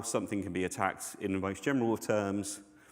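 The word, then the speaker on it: ATT&CK: So miter attack um yes it is an and but you kind of say it like attack um adversarial tactics techniques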